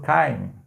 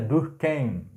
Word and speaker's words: Durkheim: o sociólogo Émile Durkheim muita gente fala do time mas na verdade é Durkheim que tu cai ai é um a pronúncia meio que alemania é de uma turma mais voltado para o francês seria mais Durkheim é mas como eu